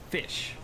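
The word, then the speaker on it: ghoti: G-H-O-T-I. Pronounced fish. I'm curious how many of you out there actually know that. Say it with me now. Fish. The reasoning is the word tough has GH, pronounced as an F. The word women, the O, pronounced like an I. And attention, TI makes it SH.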